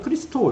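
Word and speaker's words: Χριστός: 그리스도 라는 단어는 요 헬라어 구요 오해가 바람들은 크리스토 이렇게 발음이 됩니다 미션 해볼까요 여러분 히브리 옵니다 아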